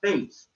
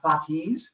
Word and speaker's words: Fates: from the face also good job not mispronouncing this one i've had a number of kids who try to make it sound greek and they call them the fatis or even i've heard the fatties and i'm like no